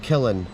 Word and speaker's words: Killin: and gave his name to the village, Kilfinnan, pronounced Killin, meaning the burial place of Fingal.